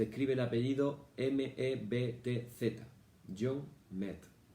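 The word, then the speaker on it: Metz: El autor es un jesuita que se llama John Mett. Te lo recomiendo, si lo puedes encontrar en internet. Se escribe el apellido M-E-B-T-Z. John Mett.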